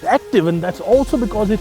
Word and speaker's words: Acti.EV: The first Tata EV with the Acti.EV architecture, but it isn't pronounced that. It's pronounced active, and that's also because it has new batteries.